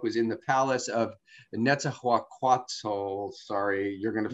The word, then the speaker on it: Netzahualcoyotl: His first book was In the Palace of Netzahualcoyotl. Sorry, you're going to... Netzahualcoyotl.